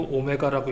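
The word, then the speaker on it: ω: 또 나오다니 요건 각 속도라고 하는 개념인데요 아니고 오메가라고 읽습니다 한 바퀴 둘레를 도는데 걸리는 시간 주기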